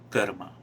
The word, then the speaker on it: karma: that's what is important a lot about dharma and karma which i'm pronouncing it in a very traditional indian way of course um if